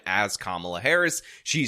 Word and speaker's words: Kamala: way that I want to when you disrespect kamla Harris by saying you will call her whatever